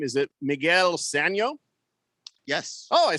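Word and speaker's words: Sanó: Is it Miguel Sano?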